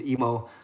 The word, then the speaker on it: Emo: my last name because in Japanese you pronounce every syllable but if I say more sounds like I'm stuttering so I say mo but it's definitely not I move or emu and I joke around